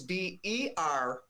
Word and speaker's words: Bernock: It's Bernock. Many people would spell it B-U-R, but it's Bernock.